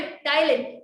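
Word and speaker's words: ptyalin: टाइलिन। ये बात NCERT में मेंशन नहीं है गाइस, लेकिन कभी-कभी इस पे सवाल आ चुके हैं इसलिए मैंने लिख दिया है। ध्यान रखना है, इसमें पी साइलेंट है, गलती होती है।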